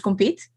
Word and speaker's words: Compiet: really matter but uh officially in in dutch my name is compete compete yeah okay but you